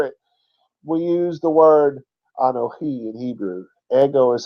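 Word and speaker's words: אנוכי: We use the word Anohi in Hebrew.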